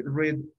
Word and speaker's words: read: no continuemos y así red news chicos la pronunciación de esta palabra ustedes saben que es la palabra leer read pero en el pasado y en el pasado participio se pronuncia como el color qué color les dije